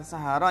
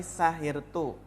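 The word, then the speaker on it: سهرت: Ini yang benar bukan sahara ya, tapi sahirtu.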